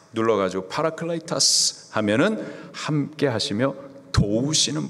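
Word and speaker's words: παράκλητος: 보해사 헬라식 발음으로는 파라클레이터스. 파라 하시다. 클레이터스 도우시는 분. 파라 훅 눌러 가지고 파라클라이타스 하면은 함께하시며 도우시는 분 그분이 바로 보해사 성령님이십니다.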